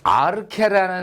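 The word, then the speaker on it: ἀρχή: 많이 나왔죠 아케 아케요 형태는 어려워도 요게 아르케라 발음이 된다라는 거는 이제 여러분이 아실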